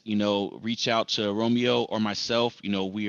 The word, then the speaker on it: Romeo: That's Romeo, Romeo, not Romio, like some people like to spell it.